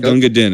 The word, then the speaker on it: Gunga Din: Some people call it Gunga Din. It's actually pronounced Gunga Din.